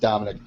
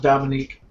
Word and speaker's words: Dominique: in the it's not it's spelled dominique it's pronounced dominic i'm gonna call you dominique you like it or not so that's what i thought it was was dominique i'm like the [